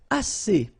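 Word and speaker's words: assez: All right and then as means enough. Okay. Remember two vowels here a and then uh and then double s. So it's really strong the s as okay as so same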